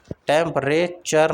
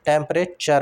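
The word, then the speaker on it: temperature: टेंपरेचर टेंपरेचर नहीं होता टेंपरे टेंपरे टी यू आर E spelling होती है इसकी लेकिन टेंपरेचर होता है टेंपरेचर सी एच यू are spelling इसकी रहती है इंटरेस्टिंग इंटरेस्टिंग बोलते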